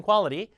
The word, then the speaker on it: quality: 되잖아요 티가 좋아졌다 have become much better in quality the p 요거 발음도 어떻게 해야 돼요 리티 아니고 qu 자가